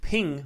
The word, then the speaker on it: PNG: guessed JPEGs a rasterized P&G pronounced ping files are also rasterized